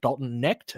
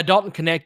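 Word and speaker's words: Dalton Knecht: Because I read it, I was like Dalton Necht. I thought the K was silent, and uh, Mike graciously corrected my pronunciation. It was like, yeah, Dalton Connect.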